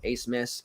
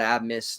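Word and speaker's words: Abmas: familiar with Mad Max Ace Miss not AB Miss not Amos not abubimis it's Ace Miss spelled differently but that's how you say it we learned that two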